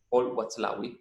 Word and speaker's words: Paul Watzlawick: muy difícil de pronunciar, que es Paul Watzlawick, que está con W, tiene una Z en el medio, Paul Watzlawick.